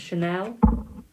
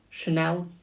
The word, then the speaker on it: Chanel: Apparently it's Chanel. Do I have a Chanel here? Who sent a donation to skip the queue? Hello, my darling. It's pronounced like the brand.